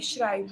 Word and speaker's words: schreibe: Ich schreibe, आई श्राई, pronunciation पे ध्यान दीजिए।